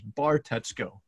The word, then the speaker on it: Bartetzko: because it's spelled and it's pronounced exactly how it's spelled as a matter of fact this bar Tesco or Tesco you got